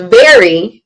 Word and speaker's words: VARY: Yeah, so it's vary, but it's spelled, because it's a variation. It's VARY instead of VERY.